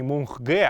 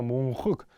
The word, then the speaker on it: мунхык: Не мунхге, а именно мунхык.